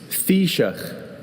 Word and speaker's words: Taoiseach: Taoiseach.